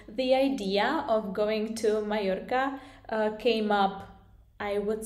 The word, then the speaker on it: Mallorca: So Mallorca, I should say, because double L is pronounced in Spanish as y, so it's not Mallorca but Mallorca, and I should know because I study and learn Spanish, as you probably know.